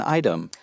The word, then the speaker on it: item: Choosing an item. 다시 한 번 더. Choosing an item. choosing an item이라고 쓰여서 아이템 또는 item이라고 T 발음이 먹어질 수 있다는 거.